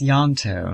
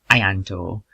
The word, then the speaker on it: Yanto: Pronounced Yanto, not Ayanto.